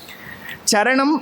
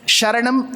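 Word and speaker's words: चरण: Charanam is feet. Sharanam is Sharanagati, refuge. So we should not get confused between the two. It's not Charanagati, it's Sharanagati. Shri Guru Charana, not Sharana.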